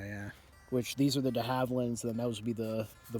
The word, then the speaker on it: de Havilland: They also brought with them how does the humble collector pronounce it? You are the 20th century. De Havilland, thank you very much.